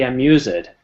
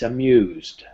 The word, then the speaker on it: amused: never say belong ed we never say amuse it it's amused i'll teach you how